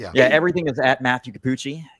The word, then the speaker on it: Cappucci: Everything is Matthew Kapuchi. Kapuchi spelled like cappuccino but without the no.